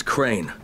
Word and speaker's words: Crane: store no my name's crane crane crane rhymes with train and brain and S and Grain